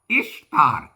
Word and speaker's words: ഇഷ്താർ: പാപിയാക്കരുത് അപ്പൊ നമുക്ക് ഉപസംഹാരം വരാം ഇങ്ങനെ പറയാം ഇഷ്ർ ഇഷ്താർ എന്നാണ് ഉച്ചാരണം ദേവിയുടെ ഈസ്റ്റർ എന്നല്ല രണ്ട് ബാബിലോണിക്കാരുടെ ദേവിയുടെ ഉത്സവമായി